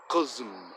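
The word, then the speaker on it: قزم: And then we just drop off the un and just Qazm, Qazm. Sounds kind of like cousin, but not really.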